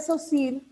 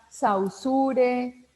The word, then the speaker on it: Saussure: saussure y ferdinand de saussure excelencia si hay mucha gente que lo pronuncia saw sure socio le dicen de muchas maneras pero la forma correcta de llamarlo es ferdinand de esos hijos es el padre de